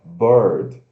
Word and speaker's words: bird: Só que pronuncia, ó, bird, não é beard. É, porque tem o E, não é beard, é bird.